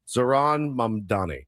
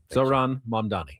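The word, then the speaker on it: Zohran Mamdani: Zaran Mamdani. Very good. Zaran Mamdani.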